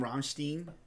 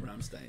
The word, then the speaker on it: Rammstein: Frankenstein iin Ramstein yeah I kept calling romstein in my first couple videos because that's how Americans say it romstein but it's romstein Ramstein yeah yeah so but